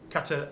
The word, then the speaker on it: Qatar: Qatar is a proper pronunciation.